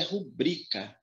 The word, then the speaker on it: rubrica: Essa palavra não tem acento, porque a pronúncia dela é rubrica.